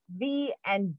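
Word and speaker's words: Vau: we have a capricorn so capricorn is u v and w is capricorn and that is pronounced as va v-a-u and then we have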